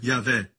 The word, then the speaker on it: Yahweh: Yud, rei, Vav, rei, pronunciado como Yahvé.